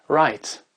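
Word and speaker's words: write: commencent par WRR et le W ne se prononce pas euh par exemple le mot écrire le verbe écrire il s'écrit W r i T e il se prononce right right on on sent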